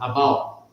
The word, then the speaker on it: about: A pronúncia que ela fez ali na quarta linha, na última palavra, about. Reparem que ela não marcou o T.